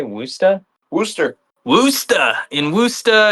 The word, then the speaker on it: Worcester: Worcester. Worcester. In Worcester, it's spelled like W.